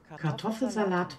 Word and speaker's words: Kartoffelsalat: How to pronounce it? Kartoffelsalat mit Ei und Gurke.